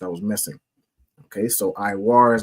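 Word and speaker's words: עור: Khan Khan, it would be Iwar.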